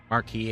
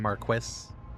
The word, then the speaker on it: Marquis: So, apparently both pronunciations are correct. Marquee and Marquis, huh?